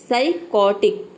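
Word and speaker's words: psychotic: साइकोटिक, अगला है साइकोटिक, तो इसमें भी जो यहाँ पे एस पी है वो साइलेंट है क्योंकि पी के बाद एस आया है।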